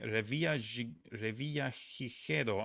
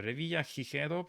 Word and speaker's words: Revillagigedo: The Revillagigedo Islands are a group of 4 volcanic islands belonging to what small Mexican state?